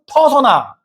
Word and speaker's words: 페르소나: 소비자 니즈 분석, 뭐 페르소나, 고객 여정, 페르소나. 요즘 인공지능 발달하면서 페르소나, 영어 발음은 퍼소나.